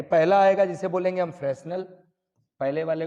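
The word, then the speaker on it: Fresnel: Diffraction के 2 type रहेंगे, पहला आएगा जिसे बोलेंगे हम फ्रेस्नेल, पहले वाले को बोलेंगे फ्रेस्नेल, फ्रेस्नेल डिफ्रैक्शन। एच नहीं है शायद इनकी स्पेलिंग में, है ना, इनकी स्पेलिंग में एच नहीं है, वो आप देख लेना।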